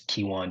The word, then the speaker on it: Kewaan: r a y t o n um is kiwan Dron all across the board now now hold